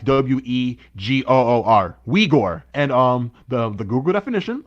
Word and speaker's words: Uyghur: Uyghur. That's how you say it. Uyghur. Yeah, like it's like you say it With a like W, water. yeah, like you pronounce it like Wegoor.